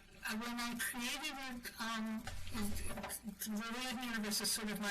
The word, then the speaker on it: Liaden: check the pronunciation. It's Liaden, is it?